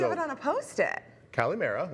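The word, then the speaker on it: καλημέρα: Kalimera, like I said, is good morning and good afternoon. Was that the right pronunciation, Gabs?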